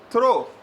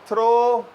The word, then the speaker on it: throw: है, एक थ्रो है एक थ्रू है। तो थ्रो, फिर मैंने कहा THROW, तो उन्होंने बोला सर स्पेलिंग क्यों बता रहे हैं, वी आर टीचर्स। मैंने कहा भाई गलती हो जाती है, जहन में ये वाला थ्रू बैठा हुआ है, लोगों के जहन